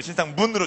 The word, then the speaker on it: 신상문: 이렇게 많이 했나 봅니다네 그 부모님께서 지어주신 그 소중한 이름을 신상 문으로 정확히 발음해야 되는데 마지막 경기는 힘들다고 하더라도